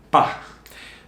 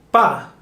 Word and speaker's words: pa: Bueno, Juan, vamos a empezar con el pa. Bueno, primero, pa. ¿Qué es pa? Pues creo que es para. Pa is para. Entonces, acortamos la palabra y decimos pa. En una manera coloquial, siempre solemos decir pa.